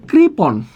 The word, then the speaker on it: কৃপণ: এখানে লেখা আছে কৃপণ, খেয়াল করো এখানে উচ্চারণটা কী হবে? উচ্চারণ হবে করিকার ক্রি, পৌকার পো, সরি কৃপণ, কৃপণ। একটু খেয়াল করো কৃপণ উচ্চারণ কী হবে? কৃপণ উচ্চারণ কী হবে?